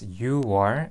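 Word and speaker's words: 유월: When you pronounce 6월 and 10월 in Korean, it is pronounced as 6월 and 10월 respectively.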